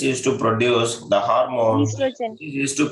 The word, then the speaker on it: estrogen: yeah, estrogen. Understanding? So estrogen and as well as progesterone. Progesterone. So progesterone and estrogen they will produce. Estrogen, O is silent here.